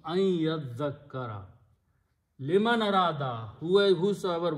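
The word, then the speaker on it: أن يذكر: So, now the word becomes an yazzakkara, and when you pronounce ya and nun, you pronounce here adgham, so it becomes ayyazzakkara.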